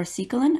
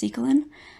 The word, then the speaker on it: secalin: amount of succulent or cecalen as you can see here which is another form of storage protein like gluten i will refer to these as succulents but they might also be pronounced cecalin uh succulents are similar in